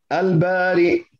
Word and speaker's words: البارئ: Lanjut, kemudian nama Allah berikutnya adalah Al-Bari'u. Al-Bari' dengan Hamzah. Ingat-ingat dibacanya demikian. Dengan Hamzah, tidak boleh dibaca dengan Al-Bari. Tetapi Al-Bari.